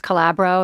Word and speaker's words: Calabro: ex-husband was Thomas Calabro. Am Yeah. I pronouncing that right?